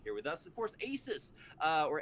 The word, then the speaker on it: Asus: them for being here with us of course Asus uh or Asus if you want to pronounce it that way is welcomed back to